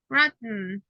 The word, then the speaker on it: rotten: Don't pronounce letter E. That's a tricky. It's just grit and then sound. Hidden, rotten, mittens.